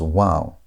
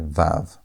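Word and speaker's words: וָו: That's why many scholars today pronounce it as wow. But modern Israelis say vav. So, in this course, we're going to use the wow sound. We're going to pronounce this letter as wow with a W sound.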